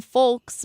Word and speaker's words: folk: pronounce the L in folks but all the online dictionaries that I looked at show that the L is silent Frank Belleville says the